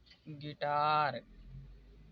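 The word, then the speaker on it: guitar: इसे पढ़ा जाएगा गाइल यहां पर देखिए यू आई आया है तो यहां पर आई एक वावेल है इसलिए यू कॉमन होगा इे पढा जाएगा गिटार अब देखिए यहां पर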